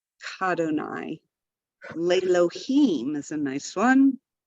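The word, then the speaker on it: כַּאדֹנָי: Very often we'll have a prefix in front of Adonai, and we don't add a syllable to it.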